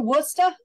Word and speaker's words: Worcester: Did y'all drive through Worcester?